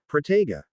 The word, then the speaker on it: Protego: A runic analysis of Protega reveals that proper pronunciation of the O sounds is absolutely necessary to reliably and successfully cast the shield charm, as the rounding of